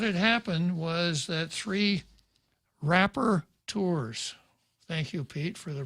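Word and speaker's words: rapporteurs: rights council what had happened was that three rapper tours thank you pete for the proper pronunciation of that term had written a letter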